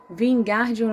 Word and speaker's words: Wingardium: Você está dizendo o feitiço errado. Harry ouviu Hermione corrigir, aborrecida. É Wingardium Leviosa. O gar é bem pronunciado longo.